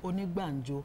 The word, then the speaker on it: Onigbanjo: Moyoshiri Onigbanjo, Senior Advocate of Nigeria. Did I pronounce that name wrong? Moyoshiri. Onigbanjo.